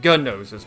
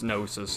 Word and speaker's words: gnosis: which in this game they pronounce it gun noses but it's gnosis I mean come on